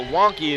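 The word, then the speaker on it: Juanky: fighter meeting today was don't call me junkie this because it's one wonky but the wonky is spelled Ju a and K Y so wonky his name's Juan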